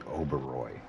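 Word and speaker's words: Oberoi: pronouncing my name right it's supposed to be oberoy you know that for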